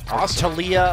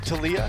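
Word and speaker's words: Taliyah: Talia locked in yeah tiia I guess is how it's supposed to be pronounced is it tiia I think it's tiia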